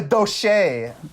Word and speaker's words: Douche: It's pronounced a doche.